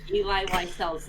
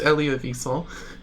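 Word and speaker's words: Elie Wiesel: Ooh, I've got Eli Wiesel's Night. That is an That's pronounced. autobiography. It's pronounced Elia Wiesel.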